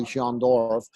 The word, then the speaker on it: Jean Dorff: it's Jean Dorff. spelled Jean, y'all, but it's pronounced Jean.